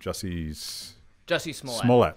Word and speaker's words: Jussie Smollett: Jussie Smollett.